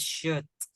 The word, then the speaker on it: should: word should get it this is should there's no oh there's no l now this one it